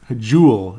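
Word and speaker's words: Joel: as soon as possible is Jewel is a I think I'm finally saying it right I mean U was close but juel I guess it really is juel ericon a jeel of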